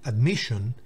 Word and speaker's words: admission: Admission, fíjense dónde va el acento. Admission no es admission, ni admission, sino admission, admisión o recepción.